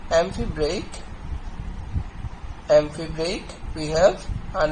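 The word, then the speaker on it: amphibrach: the trisyllabic feet is amphibrate okay or amphibrak am phi b r a c h okay in this in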